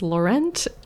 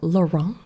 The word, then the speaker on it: Laurent: that it's not pronounced Laurent. So it's actually pronounced approximately lauron. So this is the T is silent and it's kind of like an N sound.